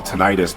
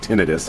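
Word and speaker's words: tinnitus: because I've got occasional what I used to call tonitis, but a friend of mine who has it calls it tinidis. I guess that's the way that you pronounce it.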